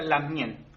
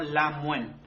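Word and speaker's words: lamngen: La mayoría de las veces se escucha Lamien, ¿ya? Pero también lo pueden escuchar como Lamuen.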